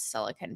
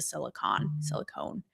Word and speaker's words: silicon: Tim is a Silicon Valley who taught me actually how to pronounce silicon properly. You noobs with the silicone.